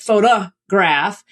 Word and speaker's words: photograph: So you have photo, which is a strong vowel, right? But photograph. So then it's really easy to just say photograph, which is what we actually say in everyday speech, even though we might deny it.